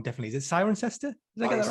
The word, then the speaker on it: Cirencester: Definitely, is it Cirencester? Did I get that right? Yeah. So, capital of the Cotswolds, Cirencester. Cool. I can't say I've ever been, and I can't even pronounce it.